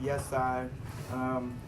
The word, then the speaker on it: YESAI: So this word here pronounced yes I.